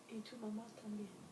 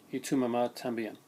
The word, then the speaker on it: Y tu mamá también: And it's I got to pronounce this right, so I'm going to my better half for this. Y tu mamá también. Y tu mamá también.